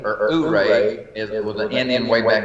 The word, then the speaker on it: Ouray: The whole Telluride, Ouray area is just stunning.